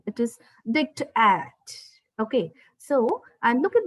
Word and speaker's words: diktat: D is being stressed and A is pronounced as A in apple. It is dictat.